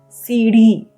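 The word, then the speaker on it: सीढ़ी: Next we have the word for stairs, staircase, or even a ladder, which is seedhi. Seedhi. Okay, it's a very hard R sound. So it is seedhi.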